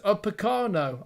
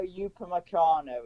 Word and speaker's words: Upamecano: They'll be coming against Diet Upacano. I probably not pronounced his name right, but... Oh, hang on, it's been disallowed. Oh, okay, it's 1-1. Deo Upamecano is how you pronounce his name.